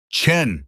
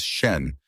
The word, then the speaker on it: Chen: Chen, he'd barked at Maya that morning, deliberately mispronouncing her name as Shen, despite 3 weeks of correction.